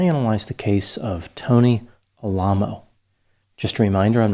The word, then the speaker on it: Alamo: his name to Tony Alo so I will refer to him as Tony even though Alamo would be the pronunciation that comes to mind first Al is the pronunciation he used based on his desire to